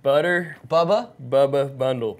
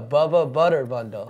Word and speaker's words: Bubba Butter Bundle: No, Bubba Butter Bundle. Okay, excuse me, folks. Butter Bubba Bundle. You keep saying the same thing. You keep saying it wrong. It's Bubba Butter Bundle.